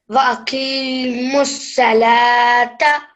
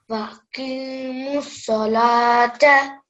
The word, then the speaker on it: وَأَقِيمُوا الصَّلَاةَ: Wa'aqimus salata. Excellent. This is saw, not sa. Sa would be seen. This is sod. So you have to say وَأَقِيمُوا الصَّلَاةَ. Wa'aqimus salata.